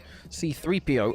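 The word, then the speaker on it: C-3PO: In which, and when he pronounces it like that, he puts emphasis on the 3. C3PO.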